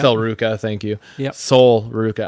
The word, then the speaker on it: Sol Ruca: You had Kairi Sane, was it Sol Roca? Is that how you say her name? Sol Ruca, yeah. Sol Ruca, thank you.